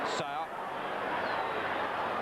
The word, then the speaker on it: Seo: Sao. Or Seo, I think he pronounces it. I think it's Seo, Pete.